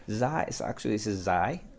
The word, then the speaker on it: Zay: Zay, so actually, this is Zay. That's the way it's pronounced locally.